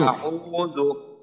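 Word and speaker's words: أعوذ: যেন বাংলা আর মতো না হয় একটু শক্ত আউজু এম জবর আউজু আউজু যেমন যেন এমনটা নয়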